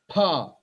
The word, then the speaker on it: फ: Everyone tells this, pronounce this mistake as pa, fa, ba, bha, ma. Pa, ba, bha, ma is fine. Why fa? There is no letter of fa.